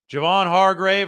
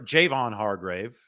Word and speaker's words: Javon Hargrave: the facility and today Javon Hargrave or Jayvon Hargrave pronunciation is important here I learned that today Jayvon Hargrave Sam